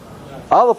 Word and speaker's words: Aleph: Silent. Aleph is the only letter in the Hebrew alphabet. There's no sound. You have to give it a vowel in order to sound it out.